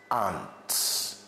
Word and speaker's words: aren't: So for example, you are my mates, aren't you? Now you should know that the word a r e n apostrophe t a r e n apostrophe t is not pronounced arent. It is aunt.